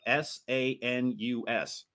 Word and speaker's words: sanus: well, it's spelled S-A-N-U-S.